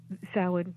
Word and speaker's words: Samhain: Well, that is Samhain. Although there are slightly different pronunciations, it's a Celtic word. It is a festival deriving from the Celtic parts of Britain, and so slightly different pronunciations if you're from Scotland or from Ireland.